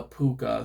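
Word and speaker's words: púca: But people still mention these, but it's called the puka. Now, in English translation, it's spelled P O O K A, but if you want to use the Irish word, it's actually the puka.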